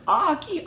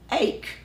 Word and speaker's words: Ache: And so then when I finally, I think, met her online, her last name is spelled A-C-H-E. Yeah. Ake. Yeah. I never knew she was Aki.